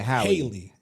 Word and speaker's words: Halle: No, it's where you got to decipher between Halle or Haley. Maybe Wikipedia will have the pronunciation. Halle Bailey. Okay, Wikipedia. Come on now, we need better. It says AE is A. Yeah, Haley.